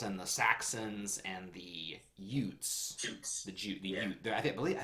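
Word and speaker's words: Jutes: the Saxons and the Utes the the you I believe because in in German the J is pronounced like a y so I believe they're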